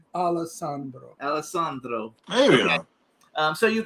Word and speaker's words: Alessandro: Say it right, Alessandro.